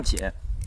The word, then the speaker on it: 解: 楚的巴，解呢就是解开的解啊，就是蟹那个发音啊。